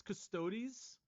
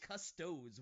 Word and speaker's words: Custodes: custos bricky right I I think it's custodies custodies you said custodes when I saw it because it's like it's spelled kind of funny right it is funny it's c-u-s-t-o-d-e-s which I don't understand why it would sound like custodes but I think with